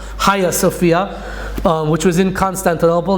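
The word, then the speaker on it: Hagia Sophia: pronounced the higher Sophia it's spelled with a G but I think it's pronounced Haya Sophia um which was in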